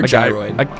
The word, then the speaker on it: gyroid: It's a gyroid or gyroid? It's a gyroid, Tyler.